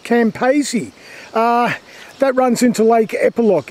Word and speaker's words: Campaspe: And this river here, I think it's called, it's pronounced Campaspe.